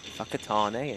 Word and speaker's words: Whakatane: Anything WH is an F. It got me. I was chuckling away for the first 3 months I was out there. Whakatane and Well, Whangarei.